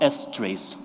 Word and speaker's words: strace: of my favorite tools for debugging is called s trace or strace depending on how you'd like to pronounce it and it's an interesting tool because